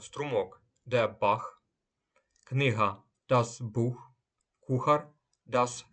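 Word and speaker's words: Buch: мови с буквосполучення цех вимовляється як ха після німецьких букв а о у напри наприклад Струмок де Бах книга das бух кухар das Кох і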